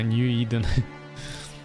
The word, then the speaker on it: New Eden: Вот как правильно читается-то, Нью-Иден.